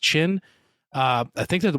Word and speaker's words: Qin: I think I'm saying that right. That's QYN. I think it's pronounced Qin.